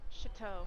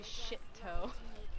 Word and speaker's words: Chateau: Chateau. That's how you say it. Chateau. I say shit-toe.